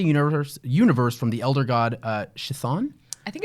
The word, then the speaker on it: Chthon: Well, then we've officially given the pronunciation for it. It's Chthon.